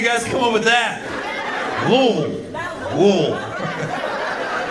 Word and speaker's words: Louisville: Cause your S is silent. And then you like to call it Louisville. Where the fuck you guys come up with that? Louisville. Sounds like you're about to nut. Louisville.